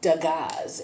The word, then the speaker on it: dagaz: the room that we have here is called dagaz it's spelled d as in david a g is in go a z is in zebra this is room number 24.